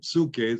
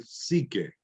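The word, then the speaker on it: ψυχή: En griego, la upsilon es como la U en castellano, pero a menudo se pronuncia I por diferentes personas en diferentes ramas de educación. Entonces, en lugar de psuque, psique.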